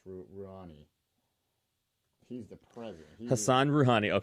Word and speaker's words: Rouhani: I always mispronounce the president's name. It's Rouhani.